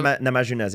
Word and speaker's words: Namajunas: Rose Namajunas? How do you say her? Namajunas, yeah.